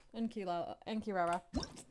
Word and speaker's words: Kirara: K and Kila and Kirara I keep wanting to call her kilala because that's how you this name was pronounced in Inu Asia and it was spelled the same way anyways now that we